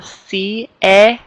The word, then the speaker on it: siete: Notice that we pronounce each syllable. Siete. Siete.